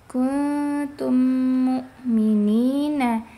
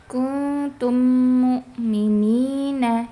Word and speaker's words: kuntum mukminina: Harusnya kan dibacanya kuntum mukminina. Nah, ini seringki dibaca kuntum mukminina. Jadi gunahnya itu belum panjang gitu, belum ee belum lama. Kuntum mukminina ya. belum ee durasinya belum panjang karena mim